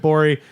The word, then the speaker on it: Gborie: just I've been bori its GBO rie the G is silent go find Bowie